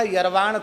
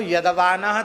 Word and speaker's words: यदवानः: उनका नाम था यरवाण तरवाण। जिनका नाम था तो यदवानः तदवानः ऐसा कहना चाहिए, पर उनको कुछ ऐसा अभ्यास था, जब वो यदवानः तदवानः बोलते थे तो बोलते थे यरवाण तरवाण।